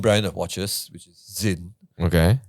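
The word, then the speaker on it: Sinn: of watches which is Zin okay s NN yeah s NN but why is it pronounce Zin because it's German all right because that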